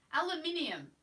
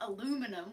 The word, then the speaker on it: aluminium: Yeah, aluminium. Exactly the way it's spelt, guys. Not aluminum with like a letter dropped out.